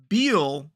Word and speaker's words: Beal: Well, Bill is B-I-A, like it's like a strong ill. Bill. Yeah, ill with a B. But Beal is like meal with a B. So imagine someone is ill, Bill, or you're eating a meal, Beal.